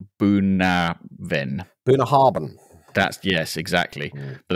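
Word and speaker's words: Bunnahabhain: is pronounced something like buen bah haran that's yes exactly but that's not how it's spelled at all uh this is 12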